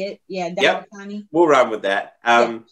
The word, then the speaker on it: Dandapani: Yeah, Dandapani.